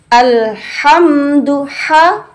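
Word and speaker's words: الحمد لله: Alhamdulillah, bersih, jelas, bersih, tidak ada suara dengkuran. Karena letaknya di dalam tenggorokan yang paling atas. Ha, ya. Yang paling atas. Ha, dilepas. Ha, tanpa ada dengkuran. Atau alha, itu agak ke bawah. Ini paling atas sehingga bunyinya tampak bersih sekali.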